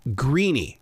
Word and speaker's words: Greaney: know I I think if you're in Ireland it's an Irish name you're gonna pronounce it greeny and I'm from Memphis